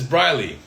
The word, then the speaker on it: Briley: This is Briley. It says, my name is pronounced like Riley, but with a B.